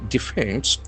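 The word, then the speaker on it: defence: It's information guidelines for books by defense. D E F E N C E. So it has got two syllables and the accent falls in the second syllable.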